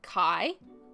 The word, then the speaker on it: kai: like if these a vow that's where the syllable stops so it's like Kai k a i Kai which means food T